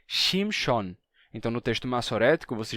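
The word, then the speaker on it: שמשון: a mesma a mesma coisa acontece com o nome Sansão que Originalmente era chamson mas passou a ser shimshon então no texto massorético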